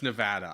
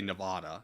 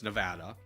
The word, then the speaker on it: Nevada: And first off, it's Nevada. I hate when people say Nevada. It's not. It's Nevada. And then second, like Nevada is what's called a